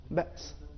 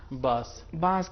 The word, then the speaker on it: بأس: بے، حمزہ پھر سین، تو اس کا صحیح تلفظ اس طریقے سے ہے بأس. ایسا نہیں ہے کہ ہم اس کو باس کہیں گے کہ بالکل، یا